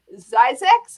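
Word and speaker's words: Zzyzx: of the story how do you say it's pronounced look it says right there on the screen zyzax do you know that mike zeiss is actually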